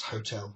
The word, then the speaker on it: hotel: But today we do pronounce hotel with a h, which means there is no, you don't have a liaison n before it in an.